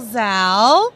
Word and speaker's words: Zalle: with my guest, Michael Zalle. Hello, good morning. Yes, and I'm gonna rhyme with your name, my new pal.